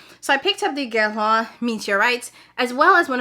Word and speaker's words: Guerlain: In English, Guerlain. Guerlain. I'm trying. I did really truly Google the pronunciation.